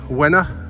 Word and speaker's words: Łyna: It's the L with the little thing on it, which is pronounced a bit like a W. Y-N-A, Łyna.